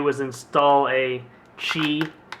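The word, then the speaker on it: Qi: did with the Note 2 was install a chi it's Q it's spelled Q it's called pronounced Chi uh wireless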